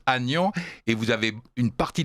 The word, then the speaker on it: Aignan: Et cette branche-là était d'Orléans, dont le saint patron est Saint-Aignan, qu'on prononce Agnan, et vous avez une